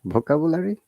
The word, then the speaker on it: vocabulary: Vocabulary. Is it vocabulary? Let's listen to it. Vocabulary. It's vocabulary. Yeah, vocabulary. Ka. After ka, there is diphthong.